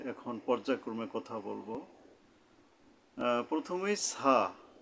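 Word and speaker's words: ث: যে তিনটা নুক্তা থাকে তো ছা এর উচ্চারণ করতে গেলে জিহ্বার আগা উপরের মাঝখানের দুই জাতের আঘাত থেকে নরমভাবে আদায় হবে শক্ত নাই এখানে বলে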